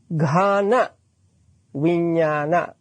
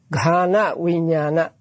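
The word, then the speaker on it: ghānaviññāṇa: Ghana Vijnana. Now, I want you to pay attention to my pronunciation so that you can read Pali. Ghana Vijnana.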